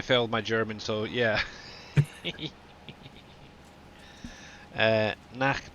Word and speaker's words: Nacht: Guten Nicht. Is that right? Nacht. Nacht, is it? Okay. That's probably why I failed my German, so yeah. Nacht, not nicht.